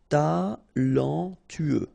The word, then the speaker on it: talentueux: after i ensoleiller sûr talentueux final x not pronounc together tueux talentueux talentueux terrible, terrifié, fatigué remember when you combine this gu.